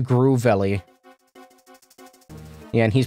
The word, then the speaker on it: Grovyle: Pronounced Groovelly.